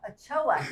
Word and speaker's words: Ochoa: Ochoa.